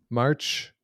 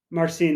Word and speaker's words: Marcin: The other team that came up from the B side, Conrad Stitch, Kristoff Dolman, March, Semenski, and Bartas. Yeah. What is it? Marcine would be the pronunciation.